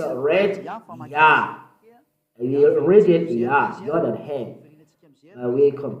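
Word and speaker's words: יה: How to pronounce it? Yah. According to the Hebrew. When you see this word, it is read Yah in Hebrew.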